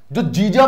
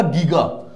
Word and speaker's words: giga: जो जीजा मैंने बोला, लिखने में मैंने GIGA लिखा है। हो सकता है तब आप सोच रहे होंगे सर ये आपने JEEJA क्यों नहीं लिखा। वो मैंने इसीलिए नहीं लिखा कि प्रोनाउंसिएशन दोनों की सेम हो, बट यहां पर जो हमें काम में आएगा वो क्या आएगा? गीगा। वहां मैं जीजा पढ़ रहा हूं, स्पेलिंग में वही रखूंगा, बट मुझे देखने को क्या मिलेगा? गीगा।